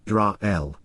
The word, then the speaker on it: Yisrael: It is a name, a proper noun, so it is useful to translate its meaning, and to be accurate, we must also transliterate the pronunciation as Yisrael.